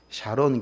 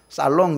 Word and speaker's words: 샤론: 교회가 참 좋은 교회다 저희 교회는 이름이 샤론 교회입니다이 발음이 잘 안 돼 가지고 어떤 분들은 살론 교회라 그러기도 하고요 룸살롱도 아닌데 살 교회라 그러고 어떤 사람은 또 샬롬 교회라 그러기도 하는데 우리는 로 교회입니다 여러분